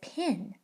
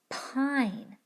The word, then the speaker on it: pine: That means this word no longer says pin, because the magic E has transformed the vowel so that it says its name in the word. This word now says pine. It's important to remember that when a word has a magic E, you don't say anything when you get to the E.